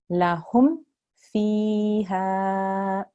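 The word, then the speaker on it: لَهُمْ فِيهَا: I will pronounce this lam, very short. Unless there is a mim or a ba after a mim sakin, it's a very short, quick pronunciation.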